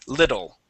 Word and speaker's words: little: okay that that word we can pronounce the Double T as a D sound little okay but but not